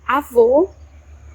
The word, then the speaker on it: avô: and o, as in avô, which means grandpa. Notice that the sound of the circumflex closes the sound of the vowel.